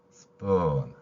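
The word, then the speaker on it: spoon: 해당할 때는 시워 그리고 S 뒤에 p 올 때는 쌍비 발음이 됩니다 따라서 p 뒤에 표기할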